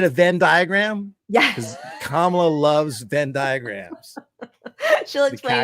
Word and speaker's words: Kamala: He refuses to say her name right, Kamala, just to show disrespect.